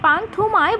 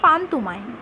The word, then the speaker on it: পান্তুমাই: মেঘালয় পাহাড়ের পাদদেশে অবস্থিত এই গ্রামকে অনেকে পান থুমায় বলে ডাকে কিন্তু এর সঠিক উচ্চারণ পানতুমায় পানতুমামাই গ্রামের অন্যতম বৈশিষ্ট্য